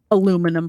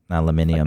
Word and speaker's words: aluminium: a British pronunciation with our our stupid American pronunciation aluminum foil aluminium out here it's aluminium every other thing is